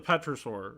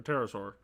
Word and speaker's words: Pterosaur: Petra the Petrosaur, or Pterosaur. The P is silent.